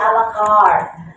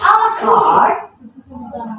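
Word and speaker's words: à la carte: Coba mau didengar, dia berarti dia ada bahasa juga, pronunciation Prancis, ya French, dengar. A la carte. Tapi ketika dia adopsi menjadi bahasa Inggris, sudah bukan bahasa Prancis lagi, coba dengar.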